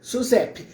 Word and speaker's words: SUSEP: de seguros privados é a pronúncia essa mesma SUSEP mas o p e mudo não tem não tem vogal então é SUSEP SUSEP o Pedrinho é sem